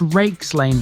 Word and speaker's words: Reeks Lane: Just the one piece of information for Dronfield, and that's to do with Reeks Lane, which is pronounced as Rakes Lane by the locals.